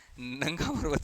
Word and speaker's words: नंगा पर्वत: लेकिन एक्सेप्ट कर लेना, नंगा पर्वत। इसको नागा पर्वत भी बोल सकते हो आप, क्योंकि spelling goes like this, नांगा। तो नांगा बोलोगे तो यहाँ पे नागा की पहाड़ियां हैं, तो वो कंफ्यूज हो जाते हैं, तो हम इसको नंगा ही रहने देते हैं, मतलब नाम